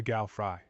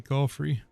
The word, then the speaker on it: Galfrey: Okay, I don't think the mod's doing too bad, but it is funny when they pronounce some things like Galfry. I'm pretty sure that's supposed to be Galfrey.